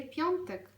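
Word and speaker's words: piątek: вихідних У нас є понтек п'ятниця понтек всередині ми маємо носову літеру понтек тому коли ми вимовляємо це слово ми нібито чуємо звук н Не бійтеся цього звуку він і має там бути понтек п'ятниця наступний день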